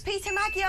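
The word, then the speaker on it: Péter Magyar: It's Peter Magyar. I don't know. It is Peter Magyar.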